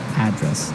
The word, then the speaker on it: address: you live yeah and their their stress is on the first syllable address right perfect very good